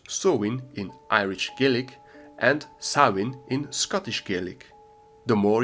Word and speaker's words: Samhain: I know you thought it was pronounced somehow like it's written or something like that, but apparently it's pronounced so in Irish Gelik and sawin in Scottish Gaelic.